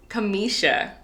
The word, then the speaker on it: Camshia: Her name is pronounced Kamisha, but it's spelled Camshia.